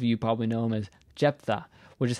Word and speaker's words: Jephthah: My humble opinion, my amateur opinion, Jephthah is a really bad transliteration of Yiftach's name, of this character's name, because it's not actually how you're supposed to pronounce his name in Hebrew.